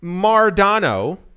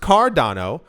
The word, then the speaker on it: Cardano: have received is that if you said mardano that is to say you you mispronounced cardano uh we've seen before